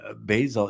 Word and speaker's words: Basil: uh, Colleen, Basil is pronounced like Basil Rothbone.